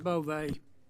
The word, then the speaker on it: Bove: Bove, I'm looking at your resume. It's Bove, right? Bove, Senator, like with Bove, a long I E.